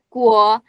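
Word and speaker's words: 国: Untuk latihan ya, untuk catatan, huruf U itu sama dengan W. Jadi kayak kalau misalnya huruf U diganti aja kayak W dalam bahasa Indonesia. Jadi kayak Zhongguo, guo nih.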